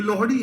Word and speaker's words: लोहड़ी: इसका उच्चारण गलत करते हैं लोग। एक ऐसी रील आ गई भाई मेरे सामने मैं पागल हो गया। देख के उसको हंसते-हंसते। भाई साहब वो बोल रहे हैं मतलब वो वो लोहड़ी उच्चारण नहीं कर रहे हैं।